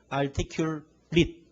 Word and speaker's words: articulate: 그러니까 전미어 AT가 동사 전미어로 쓰일 때는 발음을 AT로 합니다. contaminate 이렇게. 그 다음에 행용사나 명사 전미어로 쓰일 때는 발음이 it로 됩니다. AT가 아니고. ordinate 했어요. ordinate. articulate도 있지만 행용사로 쓰일 때는 articulate. IT. it로 발음되거든요.